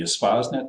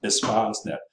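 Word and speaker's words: Espacenet: We're going to let you use the Reaxis database, the Espasnet. That's how you pronounce it. You know, you're a chemist, you can spell and pronounce things. Espasnet.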